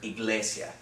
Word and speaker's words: iglesia: syllables do we have here in the word iglesia three syllables okay we're gonna divide it right here